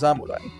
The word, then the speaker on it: Zamurai: So if it if samurai comes after certain sounds then it becomes zamurai.